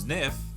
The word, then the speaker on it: Zniw: earth its new adventure which from the in-game encyclopedia is actually pronounced sniff is developed by azure